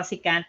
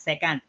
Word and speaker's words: secant: by the way uh that's how we pronounce it as secant and cosecant okay not second because i can now